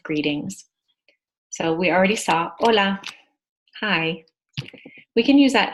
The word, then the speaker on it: hola: say hello in Spanish hola we don't pronounce HS in Spanish if it's morning and